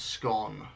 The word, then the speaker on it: scone: How do I pronounce scone? Rhymes with gone.